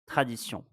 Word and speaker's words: tradition: La tradition. La tradition. The missing letter was N. La tradition. Pay attention to this one. As you can hear, we don't pronounce N when we are reading la tradition.